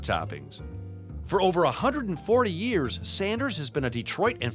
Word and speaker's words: Sanders: for me all right is it sanders or saunders it's sanders there is no u in it i was right you